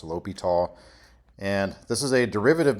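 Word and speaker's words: L'Hôpital: And I know it's spelled La Hospital's rule, but it's a French guy's name, so it's pronounced Li Tall.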